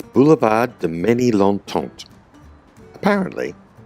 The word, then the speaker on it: Ménilmontant: In between Canal Saint-Martin and Boulevard Molly-Mont. I really don't think I pronounced that correctly. I'll just go and check. Nope, apparently it's Boulevard de Ménilmontant.